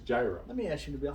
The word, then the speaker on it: gyro: you from lebanon pakistan are you from greece then you call it a euro i'm from america it's gyro let me ask you